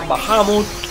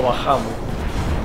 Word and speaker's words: Bahamut: Creo que es así como lo pronuncian, pero yo siempre lo llamé Bahamut. Ya sabes las razones, yo las cosas las leía como si estuviese leyendo en español, y bueno, y se lee así.